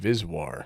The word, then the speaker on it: VSWR: So SWR is more correctly referred to as VSWR, sometimes pronounced VisWR, and it stands for Volting Standard Wave Ratio.